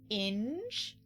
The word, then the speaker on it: Inge: Inge? Like hinge, inge. It's like hinge without the H.